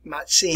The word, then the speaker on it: Mazzini: pronounce it pizza so if you see the two italian letters here z and z it is pronounced as t so hence we get the pronunciation here giuseppe matzini i'm here my friends